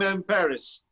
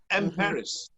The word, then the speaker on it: Emperis: The name Emperis is a blending of empire and Paris. That's spelled P-E-R-I-S, Paris.